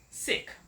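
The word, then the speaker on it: SAEC: origin company which is called sick it's spelled s AE C but less respectfully just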